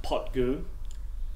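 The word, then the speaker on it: Poit Dhubh: 21 year old minimum and the name it's pronounced pot GU means illicit still or black pot well certainly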